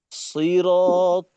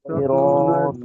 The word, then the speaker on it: صراط: أنعمت أنعمت عليهم عليهم এখানে আবার শুরুতে সই, এইটা দেখা যায় আমাদের অনেক সময় একেবারে সিনের মতো সি হয়ে যায়। এইটা কিন্তু বড় ভুল হয়ে যাবে, শব্দের গঠন পরিবর্তন হয়ে যাবে, অর্থ ঠিক থাকবে না, সমস্যাটা বহুত। তো এখানে সদ যেন কোনোভাবেই সিনের মতো না হয়। صراط الذين أنعمت عليهم صراط